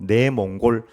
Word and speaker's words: 내몽골: 번째는 네이먼 그 자식인데 네이먼 그는 중국 발음이고 우리 발음으로 내몽골 자치구 내몽골 자치구 첫 번째는